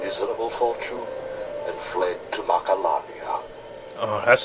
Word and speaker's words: Macalania: tied of our miserable fortune and fled to Macalania oh that's how you pronounce it to wither away together with the